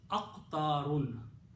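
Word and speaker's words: أقطار: Okay, you have to pronounce the full word with the 2 dhammas, aqtarun.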